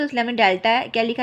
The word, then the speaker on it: डेल्टा: बहुत लोगों को इसके बारे में पता नहीं होता। तो गलत प्रोनाउंस करते हैं। इसलिए मैं आपको बता देती हूं। इसको हम डेल्टा प्रोनाउंस करते हैं।